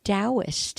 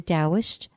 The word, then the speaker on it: Taoist: and it's by the Taoist and that is spelled T it Taoism starts with a T not a D but that it's pronounced as D so T for Thomas AO ist the Taoist master Alfred Wang H